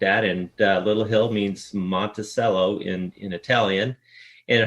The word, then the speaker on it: Monticello: So I don't know why it's Monttoello versus cello, but uh that's kind of the the wellspring of the name. And you've told me before that there's only one Monttoello. every other place is pronounced it the way Jefferson did.